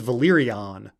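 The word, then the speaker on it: Velaryon: derived from Valyrian but George R Martin pronounces house valaran really weird he actually pronounces it closer to he says valyon instead of valarian he says valyon um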